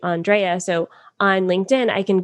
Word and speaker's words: Andréa: So, uh, a lot of people, for me, for instance, say Andrea, which is fine, but it's actually Andrea.